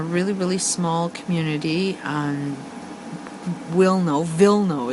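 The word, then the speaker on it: Wilno: really small community um wio vno is how I think it's pronounced it's the first polish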